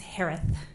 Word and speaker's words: Herath: maiden name last name is pronounced like Harris with a lisp it's herath h-e-r-a-t-h hello just as